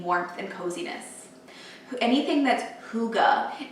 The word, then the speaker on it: hygge: It's spelled H-Y-G-G-E, and it was honestly only a few weeks ago that I actually learned the correct pronunciation of it was hygge. I think I've been mostly saying hygie, so that was a big learning lesson for